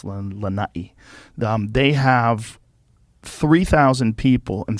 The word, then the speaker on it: Lanai: So in the island of Lanai, you got to say it right. I usually say Lanai, but it's Lanai.